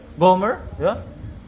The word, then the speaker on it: Gomer: Paano ba yung bigkas non? Gomer. Homer Gomer.